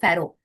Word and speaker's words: pharaoh: king okay and and you pronounce it as pharaoh right just like crow pharaoh okay so yeah